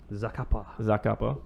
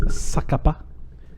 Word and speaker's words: Zacapa: This Botran is from the same distillery as the Ron Zacapa, the world famous Zacapa. So apparently it's I believe it's pronounced Sakapa. distilled 7,000 miles or something.